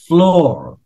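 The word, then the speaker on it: floor: ocean ocean Anya ocean ফ্লোর আচ্ছা এইটা যারা বুঝতে পারিনি এটা উচ্চারণের জন্য বুঝতে পারিনি কারণ না লাস্টের লাস্টের আর টা উচ্চারিত হয় না এজন্য অন দ্যা ওশান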